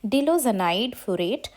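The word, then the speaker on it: diloxanide furoate: You will pronounce it like that. Dilozanide furoate.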